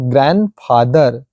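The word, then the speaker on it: grandfather: sandwich होता है यह ग्रैंड plus फादर डी ND last में आया है एफ व्यंजन स्टार्टिंग में तो क्या होता है हमारा ग्रैंडफादर ग्रैंडफादर साउंडलेस क्या बोलेंगे साउंडलेस बोलते हैं इसको डी हम उच्चारण नहीं करते हैं साउंडलेस होता है इस प्रकार से हमारा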